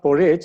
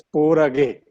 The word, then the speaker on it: Porage: So it is to correct, it is not Porage, it's Porage. G is pronounced as G. Dr.